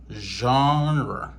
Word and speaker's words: genre: nous parle de genre alors comment le prononcer le prononcer comme je je genre OK, genre signifie type style ou bien catégorie de quelque chose.